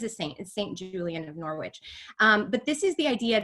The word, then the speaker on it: Norwich: in early 1400s in Norwich, England. Norwich, I think the W is silent. Norwich, England.